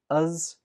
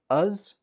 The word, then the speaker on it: as: As takes the weak form, us. Soon is stressed, and as is pronounced us.